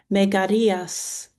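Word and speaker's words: Megareus: In the Greek, it is Megarias.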